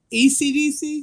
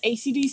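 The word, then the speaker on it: Esidisi: ECDC? Mm-hmm. Okay. Everybody says ACDC because it's easier to pronounce and write, but like, it's ECDC, and I fucking hate him.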